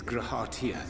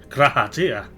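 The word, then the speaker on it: G'raha Tia: Thy true name is Grahatia, then? Oh, I pronounced it wrong. Grahatia.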